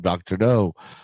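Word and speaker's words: Dr. No: 1963, the first James Bond film, Dr. O starring Sean Connory premieres in the US. It's spelled N O not K n.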